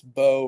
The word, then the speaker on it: Bow: I mean, everybody gets my last name wrong. It's Bow rather than Bow, but you danced to the middle there, which was good. Bow and bow. But it's Bow.